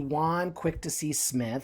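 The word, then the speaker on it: Jaune Quick-to-See Smith: today uh and that of course would be juan quick to see smith that's is how you pronounce it um and she typically brings in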